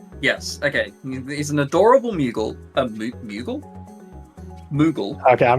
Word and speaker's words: Moogle: He's an adorable Moogle. A Moogle? Moogle. Okay, I'm going to challenge that pronunciation.